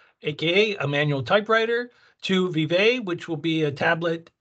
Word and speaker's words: VIVÉ: So some people have asked, what does VIVÉ mean? And VIVÉ means long life, vivacious, vivid. So in terms of how to pronounce it, the easiest way for me to remember is Vive la France, and in terms of long live France.